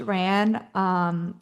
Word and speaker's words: Raan: So we launched RAN in March of this year.